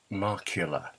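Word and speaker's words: Markkula: The Apple Marketing Philosophy, written in 1977 by not Steve Wozniak, not Steve Jobs, but the other one, Mike Markula. Mike, am I pronouncing that correctly?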